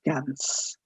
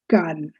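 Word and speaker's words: Cannes: and please from now on at least never pronounce it as ganus it's gun so these are some of the main major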